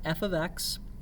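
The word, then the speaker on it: f(x): y for outputs okay it's pronounced f of x and it doesn't mean f times x it looks kind of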